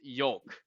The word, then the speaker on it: yolk: There's an L in that fucking word, and it's pronounced. It's yolk. Just like, in my opinion, if you say folk, there's an L in that word.